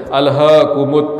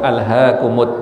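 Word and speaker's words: أَلْهَاكُمُ: Padahal itu kurang baik. Sebenarnya ha itu tipis saja. Al-ha itu udah cukup. Al-haakumut takatsur. Dengan kita normal itu sudah masuk hak besar. Intinya gitu ya. Tapi kalau hak kecil harus tipis. Al-ha.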